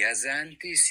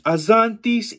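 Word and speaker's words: Azantys: Dreji azantis ixan. Dreji azantis ixan. Nice. All you'd missed was the accents. Dreji azantis ixan means I really am a knight.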